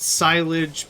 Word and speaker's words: silage: this seems less good I pronounce it silage because s i l o silage is silage is stuff that you leave in a silo for too long and it spoils uh I say silage